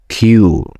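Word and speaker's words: queue: And Q, what the heck with that? It's completely different spelling, and the pronunciation is another planet. It's just the letter Q followed by 4 silent letters.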